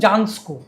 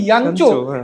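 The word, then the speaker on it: Jancsó: জানতাম না, মিক্লোস ইয়ানচো তাকে আমরা বলতাম জানস্কো, কারণ JANSCO, তার যে পদবীর আসল উচ্চারণ ইয়ানচো, আমরা অনেক পরে জেনেছি।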